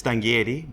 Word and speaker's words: Stanghieri: Now, Stanghieri, obviously that's a good Italian name, but I can't pronounce it properly. It is. It's Stanghieri, but you did very well with Stanghieri.